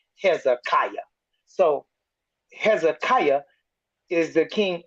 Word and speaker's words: Hezekiah: to the English-speaking people you might want to pronounce it this way so they all know who you talking about Hezekiah so Hezekiah is the